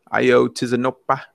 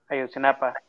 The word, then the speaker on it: Ayotzinapa: How do you say the city? Ayotzinapa. Ayotzinapa. Ayotzinapa.